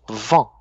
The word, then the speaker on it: vent: Vin, on va être un peu plus comme ça. Vin, vin. Et vent, on va dire un peu plus comme ça. Vent, vent.